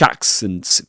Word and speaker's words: accents: In accents, the first the in the first syllable of accents, you you um you'll find the same vowel sound as in managed. managed and garage and cats.